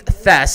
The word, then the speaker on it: Thies: Josh Fryer, Sterling Thies was running good. They're pronounced Thess, so I guess I'm wrong.